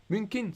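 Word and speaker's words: Mnuchin: Munkin. So we don't pronounce the N.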